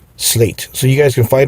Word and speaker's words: SLAEGT: this is what you get slate and slate is spelled s l a e g t slate so you guys can find them on social